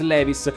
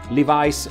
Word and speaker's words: Levi's: chiamerò questa azienda Levis Ricordatevi però che se andate negli Stati Uniti e in un negozio di abbigliamento chiedete dei jeans Levis nessuno vi capisce Levice è la pronuncia corretta questa azienda come tutte